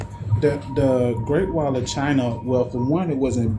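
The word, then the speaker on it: Qin: Chinese period in the Chin dynasty which is Q I N but it's pronounced chin like on your chin.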